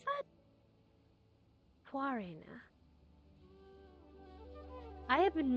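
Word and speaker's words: Khvarena: Oh, that's how you pronounce that? Quarina.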